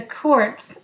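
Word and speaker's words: Kurc: The Kurtz, as it is pronounced in Polish, are a very close family with strong Jewish roots.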